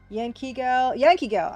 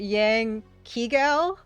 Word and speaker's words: Yankee Gal: Yankee Gal. Yeah. I I initially pronounced that Yang Kigal, but I see that now that it's Yankee Gal.